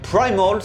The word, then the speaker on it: Primal: Le premier EP s'appelait Primal ou Primal si on le prononce à l'anglaise, et le titre, le clip qui est sorti, est tiré du même nom.